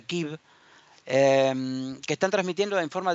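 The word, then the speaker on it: Kyiv: están hoy en Kiev, que en realidad en ucraniano se pronuncia Kiev, que están transmitiendo en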